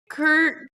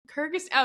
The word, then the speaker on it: Kyrgyz: Kyrgyz. Kyrgyzstan. Kyrgyz. Okay. Yeah, yeah. If you try to spell it, it'll keep autocorrecting to Kurdistan, which is right next to it.